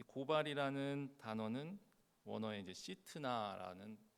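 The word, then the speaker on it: שִׂטְנָה: 이 고발이라는 단어는 원어에 이제 시트나라는 고 이제 발음합니다.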